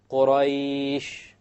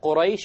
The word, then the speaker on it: Quraysh: Look at Quraysh, you have the ya which is silent, and you have before it is a fatha. So I did it in this case 5 harakas.